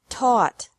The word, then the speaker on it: taught: Teach, taught, taught. Think, thought, thought. Remember that the G is silent in these verbs.